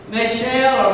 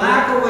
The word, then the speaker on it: Michal: Now as the ark of the Lord came into the city of David, Michal or Michal, whichever way you want to pronounce her name, Saul's daughter, looked through